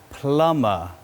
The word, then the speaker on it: plumber: then we have a plumber a plumber a plumber repairs pipes a plumber but remember we have to swallow the bee it's a silent b